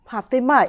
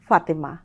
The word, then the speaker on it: ফাতেমা: নামের ক্ষেত্রেও যেমন ফাতেমা এইভাবে বলবো না, তখন বলবো ফাতেমা।